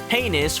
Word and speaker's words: heinous: Heinous rhymes with, famous.